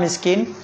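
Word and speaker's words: مسكين: ഈ മൂന്ന് നിയമം കൂടി ഒത്തു വരുമ്പോഴാണ് നമ്മൾ എന്ത് ചെയ്യണത്, നാല് മുതൽ ആറ് കതിർ വരെ നീട്ടുന്നത്.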